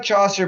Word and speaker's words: Chaucer: Chaucer yeah Chaucer I I like Chaucer because it rhymes with saucer and I used it